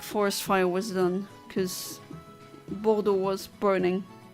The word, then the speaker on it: Bordeaux: Like, they have so many unnecessary letters in their words that don't get pronounced. Like Bordeaux.